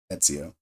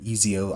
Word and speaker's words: Ezio: Etsio. Um, and a lot of the vets, they didn't know how to say his name. Eio, IO, whatever.